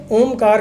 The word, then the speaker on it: ओम: देखिए, ओम का जब भी आप उच्चारण करते हैं तो ओम में 3 अक्षर होते हैं, A, U and M।